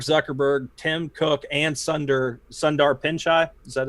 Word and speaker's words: Pichai: be Bezos, Mark Zuckerberg, Tim Cook, and Sundar Pichai.